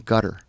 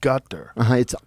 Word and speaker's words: Qatar: Qatar. You said gutter. It's back here. It's called a qaf. But so Qatar. I've heard cutter. Yeah, it's not cutter, but you're saying it like a G?